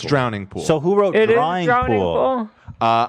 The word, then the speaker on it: Drowning Pool: hit the floor which i thought was apt drawing pool what did i say drawing pool dry what